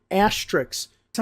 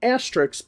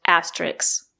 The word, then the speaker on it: asterisk: The word is not pronounced asterisks. There is no letter x at the end of the word. The two letters s and k make the sound sk not ks. The word is pronounced asterisk not asterisks.